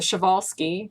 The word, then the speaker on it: Przewalski: rise to the Arabians and the Tarpeian the Przewalski's that's actually how you pronounce that limit which is in Siberia and